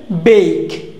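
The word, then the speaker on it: bake: বেক, বেক, ব্যাক না, বেক। ওকে, দেখো এটা আমরা কি উচ্চারণ করি?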